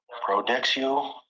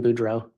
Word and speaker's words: Boudreaux: Detective, you recently testified about finding a large amount of credit cards for Brandon Boudreaux. Yes. I believe there you may have mispronounced his name.